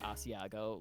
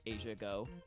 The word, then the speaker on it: asiago: provolone and uh asiago once i had a friend that pronounced asiago like in total seriousness as asiago they're like my favorite okay goodbye and i was like i was like you mean asiago um oh yeah you